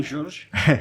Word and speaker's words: Georges: Alors, je suis très heureux d'accueillir Georges, vous me direz comment on le prononce. C'est bon, Georges.